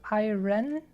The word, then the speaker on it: iron: you don't pronounce it I ran but actually iron like you don't pronounce the r and it was like